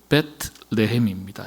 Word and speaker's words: 베들레헴: 베트 레헴입니다. 정확한 발음은 배트는 집이에요.